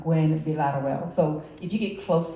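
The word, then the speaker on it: Gwinn-Villaroel: be a lot of well so it's actually pronounced Gwen villarrewell so if you get close to that I'm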